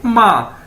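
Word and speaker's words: 吗: जिस तरह हम अपनी माँ को कहते हैं माँ, तो सेम इसकी प्रोनाउंसिएशन ये है MA माँ।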